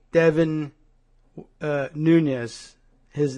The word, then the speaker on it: Nunes: Sound to Nunes but he pronounces it Nunes uh to be perfectly American he should say my name is Devon Nunes uh but he says nness I learned that from